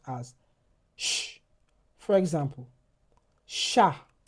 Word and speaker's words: chat: So, if H follows the letter C, it is the the CH will be pro uh will be pronounced as sh. For example, chat chat chapeau exactement We also have the J N It sounds like ni.